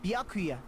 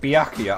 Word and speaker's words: Byakuya: Byakuya, it's possible you could have found out, isn't it?